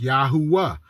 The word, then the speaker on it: Yahuwah: uh Moses his name the three Hebrew words that his name is based off of is also three syllables yahuah are actual Hebrew words